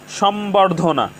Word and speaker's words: সম্বর্ধনা: বফলার উচ্চারণ অঙ্কিত রয়েছে সম্বর্ধনা সম্বর্ধনা এখানে ম এর সাথে ব ফলা যুক্ত হয়েছে ম এর সাথে ব ফলা যুক্ত হওয়ার কারণে ব ফলার উচ্চারণের কোন পরিবর্তন হয়নি তো দর্শক শ্রোতা আমরা